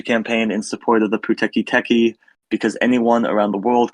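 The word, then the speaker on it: Pūteketeke: Colin, how exactly do you pronounce that? It's called the Puteki Teki.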